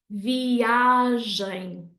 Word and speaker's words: viagem: But actually, we want it to sound like this. Viagem, viagem, okay? So just because a word ends in a nasal sound, it doesn't mean that we have to put the stress there, okay? That is a very, very common mistake.